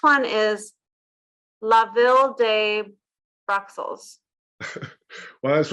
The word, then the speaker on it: Bruxelles: is SEL versus LES, Bruxelles versus Bruxelles. Yeah, no S on the end. So yes, so the English version you say Brussels, don't you? Yes. But in French, that at last S is silent.